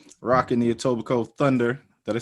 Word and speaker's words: Etobicoke: Rocking the Etobicoke Thunder. Did I say it right? Etobicoke? Topical Thunder, bro. Bro. Yo, most people, they be like, Etobicoke Thunder. Oh, man. Facts. The KE are silent.